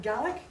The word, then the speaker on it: Gaelic: language related to so in Scotland we call it gallic it's related to Irish